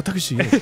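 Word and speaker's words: タクシー: Like, Takushi? And they're like, oh, Takushi.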